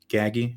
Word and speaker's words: Gaggi: Mayo's crew his uncle Dominic's uncle was Anthony gaggy is that how you say it gag G